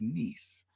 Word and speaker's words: Nice: Vincetti said, "Yes, that's how it's pronounced if you're reading it in English, but um the pronunciation there is niece."